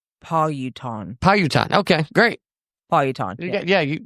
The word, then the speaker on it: Powhatan: So it looks like you pronounce it Powhatan.